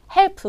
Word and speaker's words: help: 발음한 것처럼 help me help me 하고 싶은데 네이티브는 절대로 그렇게 발음하지 않거든요 help help 이런 식으로 끝 을 세게 발음하지 않습니다 우리가에서의 발음 맨 마지막